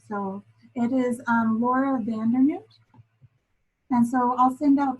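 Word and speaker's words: van Dernoot: I always say her name wrong. So it is Laura Vandernoot.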